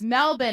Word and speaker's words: Melbourne: Wait, Rachel, you pronounce Melbourne like an Australian. Yeah, all the backpacking that I've done in hostels, I love it. I have that name firmly ingrained in my head that it's Melbourne.